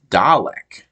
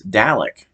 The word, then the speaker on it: Dalek: it that way but I feel like it seems like a very British pronunciation for that word I feel like a